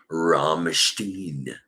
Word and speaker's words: Rammstein: You pronounce it Rammstein.